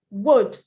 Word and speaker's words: would: So we are going I added the L because the L is silent. I added the L because it's silent. Could, would, should, bouquet.